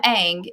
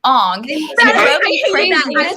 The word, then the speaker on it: Aang: let's talk about how in the tv show they called him aang and then in the movie they decided to call him ong pronounced everyone's name because